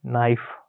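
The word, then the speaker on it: knife: ठीक है अगला देखो य तुम्हारा क्या है नाइफ इसको चाकू कहते हैं ना हम लोग तो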